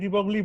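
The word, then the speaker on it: de Broglie: আর সঙ্গে সঙ্গে এইসব এক্সপেরিমেন্ট করার পর, ওই আগের দিন আমি বলছিলাম উচ্চারণটা ডাব্রয়, আমি ডিব্রগলি বলছি আপাতত, কোনো অসুবিধা নেই।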